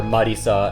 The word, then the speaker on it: Marisa: So, her neighbor is So, her neighbor is another magician by the name of Marissa or Marisa as you pronounce it in Japanese.